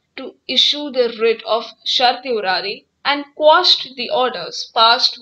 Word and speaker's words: certiorari: Here, the High Court exercised its power to issue the writ of certiorari and quashed the orders passed by the district court in the present case. It is pronounced as certiorari. Certiorari. Corpus.